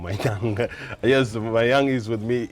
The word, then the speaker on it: Mayang: I always pronounce it wrong, Mayang.